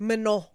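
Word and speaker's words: Manon: Guys, there is major drama which is for Manan. Manan. Okay. Okay. Man, tell us everything. Well, she's Yeah, I think it's actually pronounced Mino.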